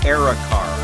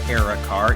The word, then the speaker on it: Era Car: is time to showcase Eric our I think it's Eric our er a considering they're not in caps we'll go with Eric are when you're communicating with